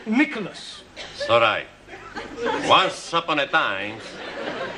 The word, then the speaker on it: Nicholas: upon a time there was a man called nickel us once upon a time there was a woman called nickel it's pronounced Nicholas sorry once upon a time there was a